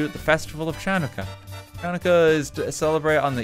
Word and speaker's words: Hanukkah: us a little bit about hanukkah not pronounced chanaka there is a ladybird